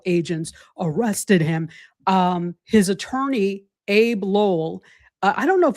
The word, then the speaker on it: Abbe: The attorney is ABBE, so I don't know if they Yeah, pronounce it I don't know if he AB pronounces or it Abe or Abby. Abby. Yeah.